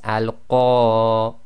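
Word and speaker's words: القارعة: Sometimes you can hardly hear the reciters doing this, but effectively you've got to have a slight ah sound right at the end.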